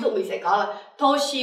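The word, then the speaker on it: 年: Ờ, từ này các bạn sẽ đọc là nen hay là toshi? Ờ, trong cái nghĩa này mình sẽ đọc là toshi nhá.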